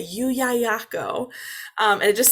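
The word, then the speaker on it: Llullaillaco: the kids like they love this word is yu yayako and it is a spanish volcano or it's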